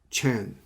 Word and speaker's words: Chan: Well, Zen is already dominated in the world of Zen, which the Zen Buddhism, in the Chinese way, we pronounce it Chan.